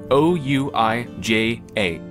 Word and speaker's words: Ouija: O-U-I-J-A. Ouija. Ouija. Like, no part of how you pronounce it is actually in the letters, except the U and the I.